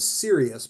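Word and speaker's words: Sirius: poem addresses that uh it's called serious but spelled like the star s i r i u s serious love friends and old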